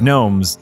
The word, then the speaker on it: Gnomes: You know, because in Union of Gnomes, the G is silent.